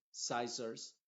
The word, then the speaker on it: scissors: Y en palabras que empiezan con S, C, I, la C es muda y la S es la que se está pronunciando. Science, scientific, scissors, y así lo mismo